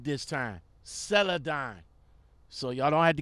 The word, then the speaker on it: Celadon: Celadon. So y'all don't have to get at me in the comments no more about mispronouncing the name.